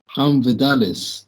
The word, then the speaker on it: Vidales: Okay, champ, we're here with Vidales. Did I say it correctly, Yeah, champ? yeah, you Vidales? do. Vidales, yes.